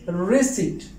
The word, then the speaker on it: receipt: dead dead not debit the last one is receipt receipt not received thank you so much for